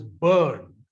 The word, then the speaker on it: Byrne: on which i should speak now rhonda the pronunciation is burn b y r and e is the the word put the letters but it is pronounced as bird so rhonda byrne is an australian elevation writer producer her famous